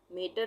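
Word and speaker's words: matter: रहा है ना फैन उसी तरह से मैटर मेटर नहीं है ये मैटर said मैट कैट फैट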